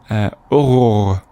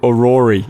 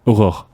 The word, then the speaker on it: Aurore: You might pronounce it Aurore if you speak English and you don't know. It's a girl's name, right? Yeah. So she says, it's so difficult. The placement of the vowels and the R's in this word come out more like the word horreur, which is horror.